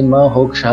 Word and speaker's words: महोक्षः: जैसे शुरू करते हैं, ये देखिए महोक्षः। अब यहाँ पे हलंत है तो सिर्फ हमने हलंत का उच्चारण किया, बाकी तो आपको जैसे हिंदी पढ़नी महोक्षः वैसे ही आपने पढ़ा है।